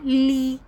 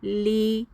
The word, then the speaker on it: gli: گلی پڑھ دیتے ہیں۔ یاد رکھیں اٹالین زبان میں جب جی اور ل اکٹھے آتے ہیں تو جی کی آواز غائب ہو جاتی ہے، اسے ہم نے پڑھنا ہے لی۔ میرے ساتھ اونچی آواز